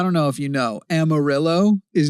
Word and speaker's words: Amarillo: The double L makes a Y Yeah yeah amarillo and it it it is a double L makes a Y sound and we have like